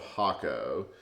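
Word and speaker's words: Jacó: in this area called hako but it starts with a J there it's pronounced differently it's j so y she's like if you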